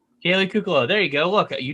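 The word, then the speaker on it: Kaley Cuoco: i'm not sure uh now i'm going to pronounce her name all wrong the league haley cuckoo kaylee cuclow there you go look you did it for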